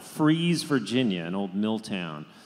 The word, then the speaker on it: Fries: all around there in a little town called fries Virginia an old mill town spelled Fri EES pronounced fries and and phrasing and that's right freezing the winter and fries in the summer and Eddie just grew up